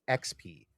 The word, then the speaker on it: EXP: I've always heard it as XP. Like the E is silent.